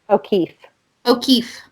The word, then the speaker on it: O'Keefe: O'Keefe.